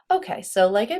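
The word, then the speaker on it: hai: two form is I once again with a completely silent h so e o i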